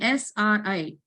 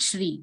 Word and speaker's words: Sri: pronunciation of that letter so SRI not Shri if I is there then we can pronounce like e if there is a sleeping line on the letter I then it will be pronounced like SRI so om Shri Para